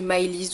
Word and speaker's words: Millie's: Donc Millie's Nail Art, moi je le prononce en français, on peut le prononcer Miley's aussi si on veut, peu importe.